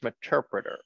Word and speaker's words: Meterpreter: So it's pronounced Meterpreter / reverse.